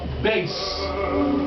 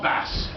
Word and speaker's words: bass: thank you very much the Bas not bass B if you pronounce it bass a bass is a fish and if you say you're a bass the guy's going to get angry so call him a base so the high voice